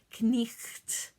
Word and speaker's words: knight: knight in shining armor in middle english you would pronounce every single consonant in that word so knight becomes knight it's kind of funny